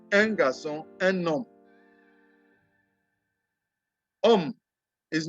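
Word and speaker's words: homme: home it is um the h is not pronounced is um like you want to pronounce umbrella um that is how you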